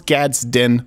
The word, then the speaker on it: Gadsden: sometimes say gazed in sometimes I'll say Gadsden but I know it's gad's din flag you can admonish me